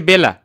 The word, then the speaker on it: বেলা: দেখো আমরা শব্দটা এখানে লিখছি হচ্ছে বেলা, কিন্তু দেখো আমরা উচ্চারণ করতেছি হচ্ছে বেলা, লিখছি কি বেলা, কিন্তু উচ্চারণটা হচ্ছে কি বেলা।